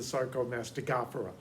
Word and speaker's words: Sarcomastigophora: and nobody uses it, is to go 3 in from the end and stress that syllable. So this is the Sarcomastigophora.